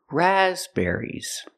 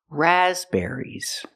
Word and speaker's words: raspberries: There's only one stress, it's on the first syllable. Raspberries. The second syllable is not it's air. Air like hair and chair. Raspberries.